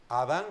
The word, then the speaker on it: Adán: el nombre del varón Adán con n al final y acentuado en la la última a la primera a la primera sílaba es el nombre del